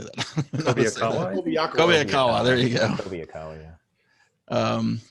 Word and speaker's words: Kobayakawa: Kobayakawa.